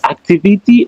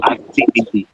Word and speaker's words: activity: We say activity or activity. It's just the American accent.